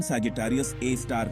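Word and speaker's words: Sagittarius A*: है यह सच है इसे सेजिटेरियस ए एस्क उच्चारण सेजिटेरियस ए स्टार कहा जाता है और यह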